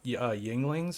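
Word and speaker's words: Yuengling: You guys drink Yinglings?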